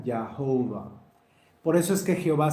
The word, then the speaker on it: Jehová: Cuando encontraban el nombre Yahvé, ellos le ponían las vocales de Adonai, A, O, A, I. En inglés y en otros idiomas, esto hace que la pronunciación sea Yahovah.